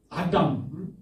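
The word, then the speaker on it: אדם: 그런데 이제 이것이 2장 7절에 가서 아담, 이거 말씀했죠. 이거 우리 성경에는 사람으로, 영어로 하면 맨으로 번역했지만은 히브리어로 단어 발음은 뭐로 한다고요? 아담이라고 발음한다고요. 아담.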